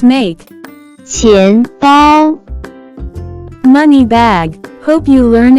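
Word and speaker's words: 钱包: can be pronounced as 钱包，钱包，钱包。 Let's break down it to understand it even more. It has two characters, with different pronunciation. First character is 钱 pronounce with second tone, it stand for money, coin.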